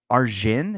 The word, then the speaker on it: Arjun: Arjun is how you say his name? I'll get back to that. Really? I went to middle school with a guy who spelled his name Arjun, and it was Arun, was how they pronounced it. Huh. Okay. He's Arjun, though.